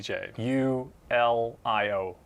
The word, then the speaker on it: Julio: j so it's j j u l i o g leo but again if you're from a mediterranean or spanish or latin country the j is pronounced like an h so it's it's julio